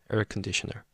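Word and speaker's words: 에어컨: but in in the pronunciation uh in Korean pronunciation, so it's econer.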